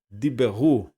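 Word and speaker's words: דִּבְּרוּ: Porque esse Shivá está debaixo, olha aqui, está sob uma consoante com dagesh, então necessariamente você vai ter que pronunciar esse shivá que está aqui. Então fica assim, ó, diberu, eles disseram.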